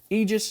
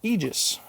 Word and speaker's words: Aegis: aegis and the only reason i know it's pronounced aegis and not aegis is because i watched the